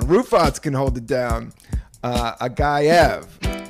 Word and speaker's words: Agayev: Agayev, right? Did I say it right? That was correct.